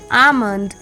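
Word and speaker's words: almond: के Fock A एल एम ओ एन डी आमंड सी एच ए एल के chalk सी ए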